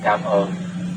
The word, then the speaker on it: Cảm ơn: they're gonna misunderstand you, please say slowly with smile face. Cảm ơn. If you say very fast, it has another meaning.